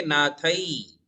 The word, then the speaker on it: नाथे: हाँ, देखिए मैं नाथई को कैसे पढ़ता हूं, आप भी 2 मात्रा का उच्चारण करें, नाथई, है ना? यस। नाथ के ऊपर 1 मात्रा नहीं है, 2 मात्रा है, तो हम पढ़ेंगे नाथई।